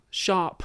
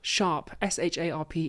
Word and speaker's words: Sharpe: Sharp, SHARPE. Sharp. Sharp. Okay. Sharp. All right. With Around your- here, we pronounce our with your R's.